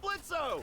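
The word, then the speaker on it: Blitzø: Hey, that sounds like Blitzo! The O is silent, Comment ils le asshole.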